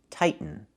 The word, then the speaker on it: tighten: The verb is pronounced tighten, not tightening. We cannot pronounce the T as a fast D. The word is pronounced two different ways. You can say tighten and make a real T, tighten, or you can